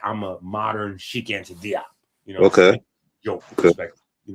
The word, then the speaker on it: Diop: The UNESCO and all that with Jope and Diop or Jope, however y'all want to pronounce Sheik Anta Diop's name.